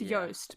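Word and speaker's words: Joost: what he looks like he's Dutch so you spell his name j o o s t which is it's it's pronounced Yost but like so for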